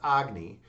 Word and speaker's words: Agni: It's actually pronounced Agny.